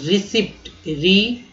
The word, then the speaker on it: receipt: रसीद, रिसिप्ट, रिसिप्ट बहुत ही ध्यान से इसको याद कीजिएगा कि कैसे याद होता है।